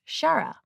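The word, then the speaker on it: Şara: If you're Turkish or have encountered someone with the same name before, you know it's pronounced shara.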